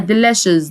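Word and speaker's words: delicious: لذيذ يعني ديشز ديشز الكلمه دي معظم الكلمات اللي فيها سي اي بننطقها الش شين يبقى ديلاشز ديلاشز ديلاشز خشن يعني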